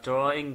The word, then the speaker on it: drawing: mọi người đọc là drawing cũng được được chưa ạ mu muốn nhấn nhá th tí nữa thì cho nó giống người bản ngữ mà thì chúng ta sẽ đọc là draw in Để mình viết lên